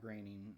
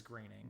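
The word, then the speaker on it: Groening: um is that Matt graining or groaning however you pronounce it I've heard it's graining gra okay Matt graining is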